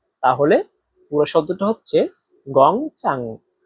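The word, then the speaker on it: 工厂: এখানে দেখেন গং। এখানে চাইনিজের এক নাম্বার টন ব্যবহার করা হয়েছে। আর এক নাম্বার টন উচ্চারণ নিয়ম হচ্ছে সোজা লম্বাভাবে বলতে হয়। তারপরে দেখেন চাং। চাং এখানে চাইনিজের তিন নাম্বার টোন ব্যবহার করা হয়েছে। আর তিন নাম্বার টোন উচ্চারণ নিয়ম হচ্ছে উপর থেকে নিচে আবার নিচ থেকে উপরে।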